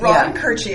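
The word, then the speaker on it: Koertge: Katie Rod Kerchie. And let me spell it because it it's spelled differently than it sounds.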